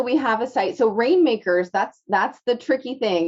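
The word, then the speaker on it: RNMKRS: have a site so rainmakers that's that's the tricky thing you know it's it's pronounced rain makers but it's spelled without any of the vowels so it's r n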